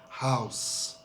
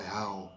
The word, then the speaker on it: house: So the pronunciation, and Thais tend to forget the S very often. Upsize, house, my house, not my how.